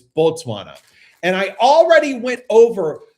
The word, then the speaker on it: Botswana: If you say Batswana, which is how most English speakers will want to say it, they'll want to say Batswana. No, they will correct you and say Botswana. It's not It's not Batswana. It's Botswana.